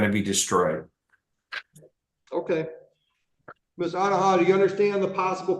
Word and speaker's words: Onuoha: Uh Onuoha, O N U O H A at 9:10. Got it. Ma'am, how do you pronounce the last name? Onuoha.